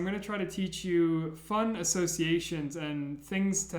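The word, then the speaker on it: Ё: It's pronounced yo. And how I like to imagine it is these two little dots are like two eyes of a person, and it's somebody waving and saying, yo, how are you doing?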